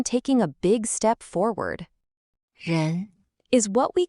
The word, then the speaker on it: 人: It's pronounced 人 and it means person or human being.